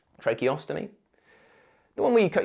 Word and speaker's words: tracheostomy: trache osy a TR ostomy I know I pronounced that wrong tracheostomy the one where you cut your throat perform